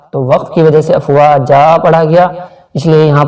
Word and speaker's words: أَفْوَاجًا: Roman میں دیکھیے افواجا، یہ اصل میں افواجن تھا، تو وقت کی وجہ سے افواجا پڑھا گیا، اس لیے یہاں پر ان جو